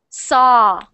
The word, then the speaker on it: saw: forget about the W pretend the W is not there just pronounce s just sa a saw so there you go it's just saw just saw not so but saw saw there you go